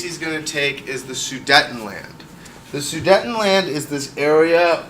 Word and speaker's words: Sudetenland: Germany after the Treaty of Versailles so that is spelled s u D DT en and the land such a letdown Sudetenland all right so he basically he's gonna meet